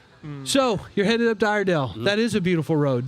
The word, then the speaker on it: Iredell: say our Dale iredell the locals call it iredell I didn't know didn't